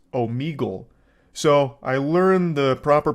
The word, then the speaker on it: Omegle: All the way back in high school, I was calling it Omegle, and only today am I realizing that it's actually pronounced Omegle.